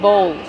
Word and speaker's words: bowl: How do we pronounce bowl? Bowl. Use the long O like no and go plus the dark L.